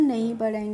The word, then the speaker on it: gnu: तो GNU को यहाँ पे भी हम जी का प्रोनाउंसिएशन नहीं कर रहे हैं, तो NU को हम क्या पढ़ेंगे, इसको हम पढ़ेंगे नू।